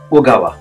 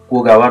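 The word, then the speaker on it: 小川: भनिन्छ कोसामे अब छ ओगावा है ओगावा यसको उच्चारण चाहिँ यहाँ ओ हुन्छ है को नभएर ओगावा हुन्छ ओगावा भनेको सानो खोलाहरूलाई चाहिँ ओगावा भनेर भनिन्छ है ओगावा भनेर भनिन्छ कोगावा नभएर ओगावा हुन्छ यो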